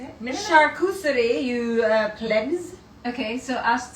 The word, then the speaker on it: charcuterie: Charcuterie, you plebs.